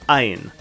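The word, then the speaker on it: עַיִן: Now we have ayin, which is silent just like aleph.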